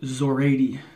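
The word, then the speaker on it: Szorady: He just said how to pronounce it in his review video, Zoradi. Kind of like Zorro, right?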